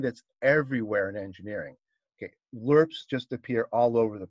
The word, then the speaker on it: lerp: um just one last thing if you google lerp that's what it's pronounced it's uh linear interpolation so if you